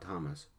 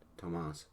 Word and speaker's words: Tomas: Not Thomas, but Tomas. Accent on the rear syllable.